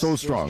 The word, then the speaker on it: Solstroem: Is it Solstroem? Is that what it's pronounced? Because Solstroem. Oh, yes. Solstroem.